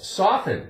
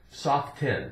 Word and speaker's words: soften: so they soften it we never say soft kin soft ten we don't but if there is